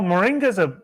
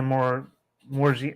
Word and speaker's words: moringa: So they found arsenic in the morgi. Oh my God. How do you say it? I bought it before and I've used Moringa?